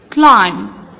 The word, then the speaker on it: climb: Climb, climb, يتسلق. C L I M P, climb. Will be silent, ما بنطقهاش.